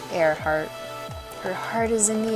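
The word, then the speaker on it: Earhart: be cool name too airart even though it's pronoun you know it's spelled with an E it's like well that's a great great name for a pilot air heart her heart is in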